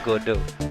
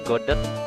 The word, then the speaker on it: Godot: Makanya, tapi setahu aku bacanya Godo. Godo ya? rasanya kayak kasihan aja dipanggil Godot.